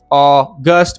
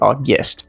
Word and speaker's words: August: But, regardless, Au-gust, but you will probably hear it like August, which kind of has an i sound to it, Au-guest.